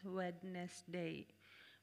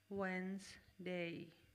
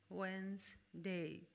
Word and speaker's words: Wednesday: This word is usually mispronounced as Wednesday, but the correct pronunciation of the word is Wednesday. Wednesday. D is silent in Wednesday.